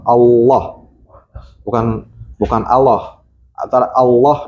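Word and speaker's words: الله: Jadi ketika membaca Allah itu harus bulat, harus tebal. Allah bukan bukan Allah.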